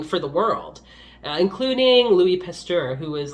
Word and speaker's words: Pasteur: figure out, healing for the world, including Louis Pasteur, who was like quite a hero in like France at the time.